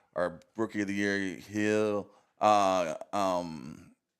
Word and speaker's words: Gil: rookie of the year heel uh um I always say heel but it's spelled G I L so Gil it was